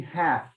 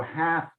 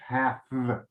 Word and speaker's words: hath: Yep, he hath. And that's like that's old English. No, hath, th, hath. Okay. No, the pronunciation is the same, hat.